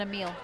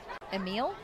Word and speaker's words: Emil: And uh your first name other than a meal. Um well, technically that's not correct either. How do you pronounce? Technically, you say the E. Uhhuh. So, it's it's it is kind of how it's spelled. Emil. Yes. That's how I say it.